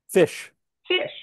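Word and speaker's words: ghoti: do in enough oh pronounce o the way you do in women and then GI the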